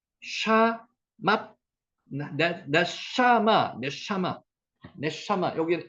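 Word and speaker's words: נשמה: 니 샤맛 네샤마 네샤마 네샤마 여기 에 앞에 오면 에 발음이죠.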